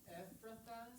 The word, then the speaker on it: Ephrathah: Ephrathah.